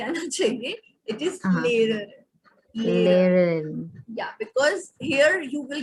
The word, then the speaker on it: lernen: Lernen. Can you repeat? Lernen. Lernen. Okay, you will say leher. No, it is not that. Leher wala leher nahi aana chahiye. It is leher. Lernen.